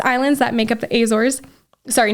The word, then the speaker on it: Azores: So I was on the Azores, or the Azores. That's how you say it in English.